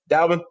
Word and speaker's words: Dalbin: Dallben if i am i pronouncing your name right row Dallben yeah yeah actually you know what you are